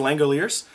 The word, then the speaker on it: Langoliers: Thank you to everybody who gave me the pronunciation, because I couldn't pronounce The Langoliers.